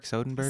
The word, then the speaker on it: Soderbergh: Soderbergh? Soderbergh, yeah.